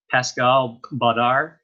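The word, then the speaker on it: Pascal Baudar: wild edibles alright there's another author no way Pascale Badar will do that's how you pronounce his last name and he's one of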